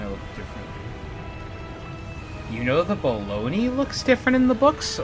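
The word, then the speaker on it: bologna: more satanic or devilish why is it called baloney if it's not spelled like that uh because it's Italian and their vowels are different than ours yes they look almost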